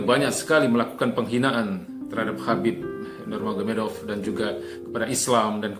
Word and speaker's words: Khabib Nurmagomedov: Khabib Nurmagomedov, ya, nama ini adalah merupakan literalisasi dari ejaan bahasa Rusia yang kalau di dalam literalisasi bahasa Arab atau bahasa Indonesia sebenarnya dibaca Khabib Nur Muhammad.